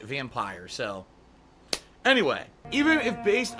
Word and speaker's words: Vampyr: to pronounce this game I thought it was vampyre because there's no II at the end to make it off what do they call it too strong or hard why but people are telling me the game devs have pronounced that vampire so anyway even if